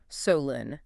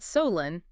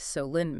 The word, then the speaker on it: Solon: For you listening, if you ever visit or just as we discuss it today, the town is pronounced Solen, right? not Solen, it is Solen, Maine, which is exactly the kind of